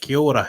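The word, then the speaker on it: Kia ora: they also use it as thank you yeah kyora they roll their eyes yeah so yeah there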